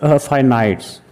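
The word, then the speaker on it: finite: इसको कुछ लोग फिनिट्स बोलते हैं, इसका जो प्रोनाउंसिएशन है वो है फाइनाइट्स नंबर, लेकिन कोई बात नहीं,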